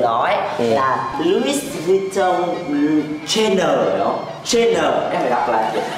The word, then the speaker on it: Chanel: Đây nó gọi tên của nó ấy là Louis Vuitton Chanel. Chanel, em phải đọc là Chanel.